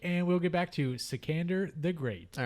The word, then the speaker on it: Sikander: i'll say it again secander secander it's like alexander but oh my gosh